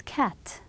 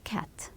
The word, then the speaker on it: cat: the second one is cat. It's not ca, it's cat. As quick as possible.